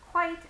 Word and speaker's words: quite: so this is because quite and quiet many students pronounce them the same but actually if we analyze the words we can figure out ah quite has one syllable and quiet has two syllables so even just from